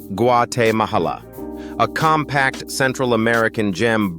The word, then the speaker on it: Guatemala: At number six is Guatemala, pronounced Guate Mahala.